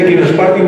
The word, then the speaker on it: Echinospartium: Es el Equinospartium barnabesi, acabando en sin latina, ¿vale? Equinospartium se escribe Echinospartium.